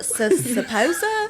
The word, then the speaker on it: Sposa: Sposa? I was like, it's literally like, sounds like it's spelled like Sposa.